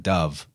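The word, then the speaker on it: dubh: well linguistically it's there dub right dub means black yes exactly it's pronounced like B to V swap it's pronounced like Dove as well that's a Gaelic word or Celtic word dub right right so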